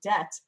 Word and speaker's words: debt: So they stuck the B back into the word and don't pronounce it. If you asked a child to spell doubt or debt, I don't think they would put a silent B in them.